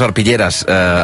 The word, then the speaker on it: Arpilleres: Sí, sí, pero en catalán lo decimos arpilleras, aunque se escriba con E, se escribe con E, pero se pronuncia con A.